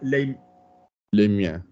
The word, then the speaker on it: les miens: So is it les miennes, or what's the pronunciation for my one? Les miens. That's right, les miens.